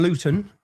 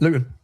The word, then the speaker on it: Luton: Luton. See, I pronounced my tea there. We don't pronounce our te's. I've done that for you. How do you say that? Luton.